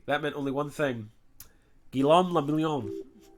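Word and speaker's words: Guillaume Le Million: meant only one thing guillaume lamillion if it doesn't rhyme you're not pronouncing it right okay drama thanks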